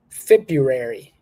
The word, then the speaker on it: February: talk to her on Wednesday good all right February February February what we're going to do with